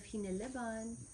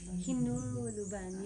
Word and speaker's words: Hineleban: So the E's in the Binuki dialect sounds like U. So instead of Hineleban, it's Hinuluban, yeah.